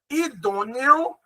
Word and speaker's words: idôneo: Esse O acaba tendo som de U no final.